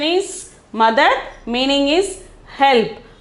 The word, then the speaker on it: मदद: The next one is 92 is madad. The pronunciation is madad. Meaning is help. Meaning is help. Okay, pronunciation is madad.